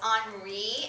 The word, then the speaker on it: Henri: Now, if you notice Henri, if you look at how that's spelled, Henri, in English that would be Henry with a Y at the end, but he's from France, so they say it a little different there.